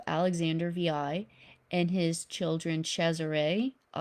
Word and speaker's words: Cesare: VI, and his children Cesare. Down there it's spelled Caesar, but commonly it's pronounced and spelled Cesare, and then Lucretia.